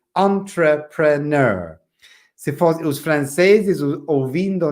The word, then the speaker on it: entrepreneur: Essa palavra muito difícil de se pronunciar. É uma palavra francês, entrepreneur. But in English, we use the same word and we say entrepreneur.